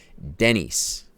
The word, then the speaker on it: Denise: Sorry, I shouldn't be accenting the I. Denise.